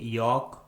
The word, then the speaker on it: yolk: Rule number 3 में हम सीखेंगे यदि किसी इंग्लिश वर्ड के लास्ट में LK, LM, LD या फिर LF आता है तो उस इंग्लिश वर्ड में L कम्प्लीटली साइलेंट होता है, यानी L का किसी प्रकार से कोई भी उच्चारण नहीं किया जाता है।